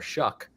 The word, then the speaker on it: Shough: Saints had taken Tyler Shough, were you able to not say a word that rhymes with Shuck on the air?